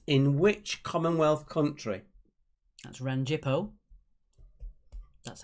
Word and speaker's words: Rangipo: That's Rangipo. That's how it's pronounced.